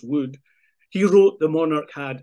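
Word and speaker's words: Wode: The court composer, Thomas Wood, I know it's spelt W-O-D-E, but I'm told it's pronounced Wood.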